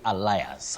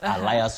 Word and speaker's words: alias: pronounce that word Betty many people innocently say allias Alias Wu Betty allias so and so but you don't say allias you say Alias Alias so and so